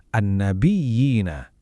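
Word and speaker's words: النبيين: Buat kata an-nabiyina, kita benar-benar tekan ya yang punya tasydid itu baru diayun 2 harokat. An-nabiyina.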